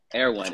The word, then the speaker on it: Erewhon: Erewhon. It's nowhere backwards.